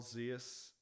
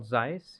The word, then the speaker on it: Zeiss: do you remember uh carl zeus lenses carl zeiss yeah yeah that's how you pronounce it okay yeah well i